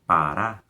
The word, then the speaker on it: Pará: Por exemplo, em Pará, o pá é átono e o Urá é tônico, ele é o mais forte dessa palavra.